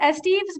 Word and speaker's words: Estevez: last name correctly uh we i pronounce esteems but my family pronounces it wrong so it's okay okay